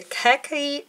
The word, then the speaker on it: khaki: It sort of has like a khaki vibe. Khaki. That's how you pronounce that.